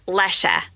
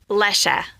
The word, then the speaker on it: Lesche: It's German. And they said it's Lesche with a short E at the end. Lesche.